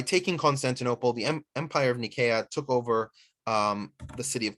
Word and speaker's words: Nicaea: The city of Nikea is usually pronounced in the West as Nicaea, but Nikea is the Greek name.